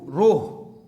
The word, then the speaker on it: rho: इसको प्रोनाउंस करेंगे RHO, रोह। तो ये सिंबल रोह कहलाता है।